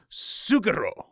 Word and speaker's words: Suguro: to pronounce the name it is pronounced suguro i want to say